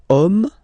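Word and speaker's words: homme: set ordinator okay and then here we get the word om man okay but then it starts with Ash as in French Ash is not pronounced so the first sound that we hear is O Okay and then it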